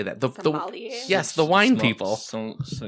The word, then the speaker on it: sommelier: Sommelier?